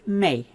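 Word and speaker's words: méh: The thing most people think of is may a B. Now notice the H is not pronounced.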